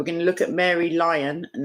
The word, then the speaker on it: Lyon: to look at mary lyon and that's how i'm going to pronounce her name even though it looks like leon but she is in